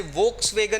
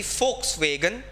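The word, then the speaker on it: Volkswagen: Famous company such as फोक्सवैगन, peoples car, इसे वोक्सवैगन लोग बोलते हैं। That is a totally wrong pronunciation. It's actually फोक्सवैगन, that mean फोक, लोगों की कार।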